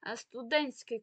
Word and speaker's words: студентський: що теж є документом До речі студентський квиток ми не чуємо там літеру ти але насправді у